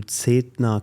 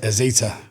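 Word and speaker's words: Zeta Global: I think also for you then, managing this one company, then also moving to Zetna Global, where you Zetna, how do you pronounce it? It's Zeta.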